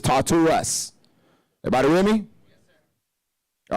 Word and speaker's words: Tartarus: Tartu, right here. That's how they pronounce it, but it's Tartarus.